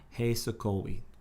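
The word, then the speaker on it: Hej sokoły: you want to spell it properly, it's HEJSOKOLY. It's 2 words. H-E-J. HEJ space SOKOLY. O-L-Y. Hey Sokolwi.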